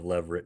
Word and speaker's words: levirate: He said, and remind me of the pronunciation of this. It's levirate marriage. Okay. Yeah. Levirate marriage.